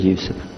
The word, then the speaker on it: Yusuf: youssef do you say yusuf and he said yusuf you're very good i wish you teach my wife she keeps mispronouncing it she calls me now how